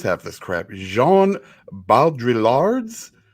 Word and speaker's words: Baudrillard: Jean Baudrillard's. You don't pronounce the L's. Baudrillard.